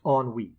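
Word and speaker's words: ennui: we have care and on WE yes I know it's spelled nuu but it's pronounced on wi because it's French French on WE a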